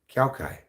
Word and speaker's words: Kai: I'm not sure how it's spelled, but that's how they say it in the show. Kai.